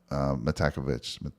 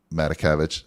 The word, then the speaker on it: Matakevich: Am I saying his name wrong? Yeah, Tyler Oh Matakevich. God, I'm saying his name so That's okay. brutal. So I think Matakevich. There you go. I got it. You got Matakevich it.